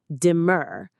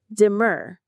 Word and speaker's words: demur: Demur. Dur. The stress is on that second syllable. Demur. It rhymes with words like fur or sir.